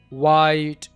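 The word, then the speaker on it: white: वाई वाइट विस्पर विच H silent कहां पर होगा?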